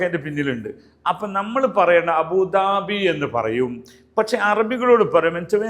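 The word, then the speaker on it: أبوظبي: കൃത്യമായ പ്രൊണൻസിയേഷൻ ഫോളോ ചെയ്യാൻ പറ്റുന്നവർ അബുദബി എന്നേ പറയാവൂ അബുദാബി എന്ന് പറയരുത് ഓക്കെയാണോ അതേസ്ഥാനത്ത് ദുബൈ പറയുമ്പോൾ അത് അല്ല അത് ദ തന്നെയാണ് മലയാളത്തിലും ഇംഗ്ലീഷിൽ പറയുന്ന ദ തന്നെയാണ് ഓക്കേ ദുബൈ അത് കറക്റ്റ്ആണ് ഇംഗ്ലീഷ വേഡിന്റെ അതേ അറബി തന്നെയാണ് അപ്പോ അബുദബി എന്നുള്ളത് ആ ദ അല്ല എന്ന് കാര്യം ശ്രദ്ധിക്കുക ഓക്കെയാണോ രണ്ടാമത്തെ ഒരു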